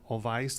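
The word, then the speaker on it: Olweus: It's a Norwegian program, Olweis, I believe is how it's pronounced.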